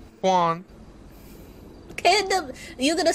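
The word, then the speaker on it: Kwon: what is your last name sir my name Juan Juan okay you're gonna spell it for them because they don't look k-w-o-n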